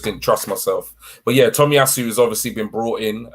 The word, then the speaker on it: Tomiyasu: Is it Tomiyasu? Perfect. Sakahiro Okay. Tomiyasu. Okay, there you go. I got it. I just didn't trust myself. But yeah, Tomiyasu has obviously been brought in, as a right back.